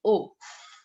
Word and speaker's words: au: So before masculine places, we put O. A-U-O.